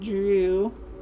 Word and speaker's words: Drew: But this so-called land Drew... Oh, is it of any relation to the sea-dwelling Drew? Pronounced like Drew Carey.